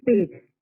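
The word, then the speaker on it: Peth: Now, how do you pronounce Pitt? Is it? It is Pitt.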